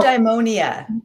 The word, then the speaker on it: eudaimonia: And it reminds me, there's a big word that I'm just learning, and I don't even know how to pronounce it. So Eudaimonia.